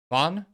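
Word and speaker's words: Ghosn: and supro Carlos uh Bon which actually how you pronounce it properly I read his book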